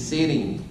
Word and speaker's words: sitting: She's sitting. She's sitting. O sitting. Sitting. Recuerden que aquí en los Estados Unidos la T se pronuncia como R. Water.